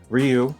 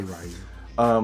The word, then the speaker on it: Ryu: Okay, so for Ryu or Ryu, depending on how you pronounce it. I say Ryu.